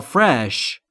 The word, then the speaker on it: fresh: تازه تر و تازه در مورد تلفظ فرش دقت بکنید فرش نیست فرش به این دلیل که بین اف و آر صدایی وجود نداره این موارد رو باید